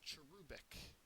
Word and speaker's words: cherubic: agreement next word is cherubic and it's a very odd word um but it's not that hard to remember uh it's an adjective uh the second syllable is accented it is resembling an